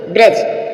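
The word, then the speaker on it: bridge: आप समझ रहे हो यहां पर डी फिर साइलेंट है अब और देखेंगे ब्रज ब्रज मीस होता है पुल नॉलेज मीस ज्ञान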